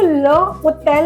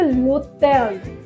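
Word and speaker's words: l'hôtel: So next है, अब हम इसको ल होटेल नहीं प्रोनाउंस करेंगे, इसको हम करेंगे लोटेल।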